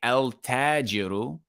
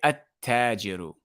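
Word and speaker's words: التاجر: Meaning that we're not going to pronounce the lam. We're not going to say al-tajiru. We're going to say at-tajiru. We are not going to pronounce the lam, and you can tell because there's a shadda above the ta.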